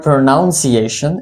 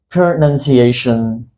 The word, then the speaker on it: pronunciation: Let me break the sound for you. Pronunciation. Pronunciation. It's not called pronunciation, it's always pronunciation.